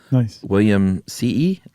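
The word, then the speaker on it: williamsii: It is technically the scientific name is Lophophora William C.E. Now, we decided that two I's means you pronounce both, right? You have to go ee.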